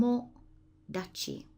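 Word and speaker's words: 友達: it's a friend Tom Tomo Dai and that Kani there is pronounced Tomo Tomo Dai your friend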